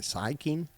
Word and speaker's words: Sikking: Syking. What else did he play in? Lieutenant. How do you pronounce his last name? Or Or how do you spell his last name? Sikking.